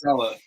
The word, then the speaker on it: Saleh: It's Saleh.